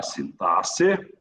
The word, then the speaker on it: sintaxe: Sintaxe. O X não tem som de KS.